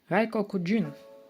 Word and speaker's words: 外国人: Тут читається коку, але коли особливо, він читається куні.